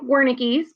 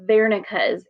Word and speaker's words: Wernicke: three it looks like wernicke's but the correct pronunciation is vernica's area this is one of those german words w makes a v sound vernica's area is what